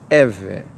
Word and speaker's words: Êvê: the original ancient text of the name pronounced Evan the event the people